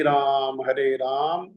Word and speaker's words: राम: राम तो कह देते हैं, कई लोग रामो कह देते हैं, पता नहीं क्यों, है ना। तो लेकिन फिर भी राम जो है वो तो फिर भी शुद्ध उच्चारण हो जाता है।